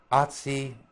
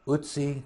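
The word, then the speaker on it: Ötzi: You know, Atsi, Utsi, to give the correct pronunciation.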